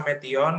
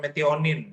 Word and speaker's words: metionin: Kemudian metion itu bisa metion atau metionin ya. Lazimnya adalah metionin. Asam amino juga.